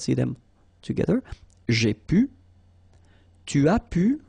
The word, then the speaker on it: tu as pu: Tu as pu. Remember, you don't pronounce the S here.